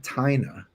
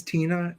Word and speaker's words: Tina: Tina Brooks let's see I used to call him tyna is that not his name is Tina yeah it's pronounced and and it's funny